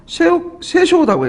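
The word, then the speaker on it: 摂政: 그래서 섭정은 그 일본 말로 세쇼라고 해요. 세쇼.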